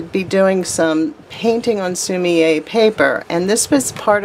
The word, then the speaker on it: sumi-e: So it's pronounced sumi-e.